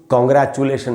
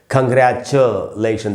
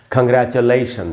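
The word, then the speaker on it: congratulation: टी आई ओ एन और इस word को भी अक्सर हम लोग कांग्रेचुलेशन ऐसे तो पढ़ ही लेते हैं। इसका सही उच्चारण है दोस्तों। कांग्रेचुलेशन देखिए च के बाद फिर आधा है। श साउंड है। च पर थोड़ा सा रुकेंगे। आधा है तो थोड़ा सा रुकेंगे और पढ़ेंगे। कांग्रेचुलेशन देखिए कांग्रेचुलेशन।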